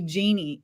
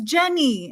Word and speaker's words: Jennie: Jenny, my husband keeps calling you Jeannie, and I'm like, her name is Jenny, and he's like, Jeannie, and I'm like, no, Jenny. It's because of the IE.